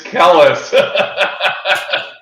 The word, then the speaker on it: Kellis: Very good, Brandon, and it's Kellis.